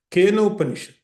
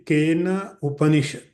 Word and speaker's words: Kenopanishad: So you can say the Ken Upanishad, or you can say the Kenopanishad. In English, for pronunciation, we add A with the N. So you can chant as a Kena Upanishad.